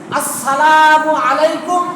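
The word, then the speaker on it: السلام عليكم: আসসালামু আলাইকুম, এটা হলো সঠিক উচ্চারণ। আসসালামু আলাইকুম, আসসালামু আলাইকুম, সালাম, এই ধরনের না করা।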